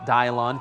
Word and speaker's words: Dylan: And then Ramona, though, coming up with actually, this is Dylan Holsey I believe he pronounces it Dylon.